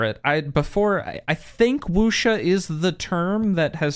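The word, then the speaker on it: wuxia: Are you familiar with the Wooa genre? No. What is that? How do I spell that first?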